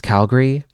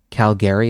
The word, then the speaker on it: Calgary: No, no, it's Calgary if you're from there. Calgary if you're not.